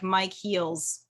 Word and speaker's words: Micheals: They'll find some random person and it's Michaels, but like Mike Heels, Micheals. Mike No, Mich. Heels. What are you I think talking I got that. about? You said Mike Heels.